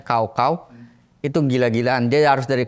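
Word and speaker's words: 高考: n namanya ada tesnya namanya G tulisannya gaauau dibacanya kaau kau itu gila-gilaan dia harus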